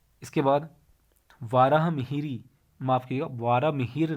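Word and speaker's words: वराहमिहिर: ही mayor ने और वराह मिहिर यह प्रशिक्षण इसका उच्चारण होगा वराह मिहिर के नाम याद रखना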